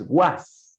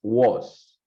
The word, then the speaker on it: was: The pronunciation of this one is not with a, no es was. Ready? It's going to be something more close, which we call like a schwa, it's was.